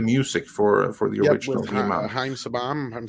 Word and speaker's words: Haim Saban: Haim Saban, I'm saying it right? Yeah, Haim Saban and Shuki Levy.